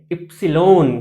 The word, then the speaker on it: इप्सिलोन: पर एक constant introduce होगा जिसको बोलते हैं इप्सिलोन।